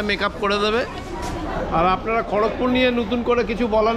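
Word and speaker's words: খড়্গপুর: এর পরবর্তী হল্ট হচ্ছে আমাদের খড়কপুর কেউ কেউ খর্গপুরও বলে কেউ কেউ না ওইদিকের লোকজন খর্গপরি বলে খর্গপুর খর্গপুর খর্গপুর প্রোনাউন্সে ডিনারটা কমপ্লিট করে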